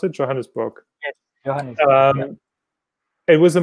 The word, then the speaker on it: Johannesburg: I did some research on the internet, and I found a course based in South Africa, actually, in Johannesburg. Is that how you pronounce it? Johannesburg.